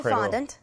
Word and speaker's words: fondant: you're the chef so put the accent on the beginning of the word whatever flows best and